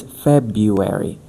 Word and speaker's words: February: Yeah, because I used to struggled a lot to struggle a lot to say uh February. February. February. Yeah, but it's February.